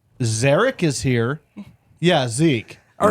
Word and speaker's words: Zarek: Every time somebody calls and says, is Zeke there? I'm like, Zarek is here.